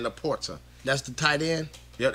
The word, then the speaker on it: LaPorta: I want to say it's Laporta. Like I said, I just want to pronounce the guy's name right, man. But he has those weapons, so I guess so. Yeah, Laporta. That's his name, Laporta.